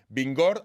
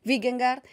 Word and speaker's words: Vingegaard: Atención, porque esto me lo han enseñado a pronunciar. Vingegaard, aunque lo leamos escrito Vingegaard, para que nadie se confunda.